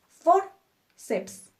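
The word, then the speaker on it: fórceps: como forceps o bíceps terminan en PS entonces acentuamos nuestra penúltima sílaba forceps biceps fácil no finalmente nuestra quinta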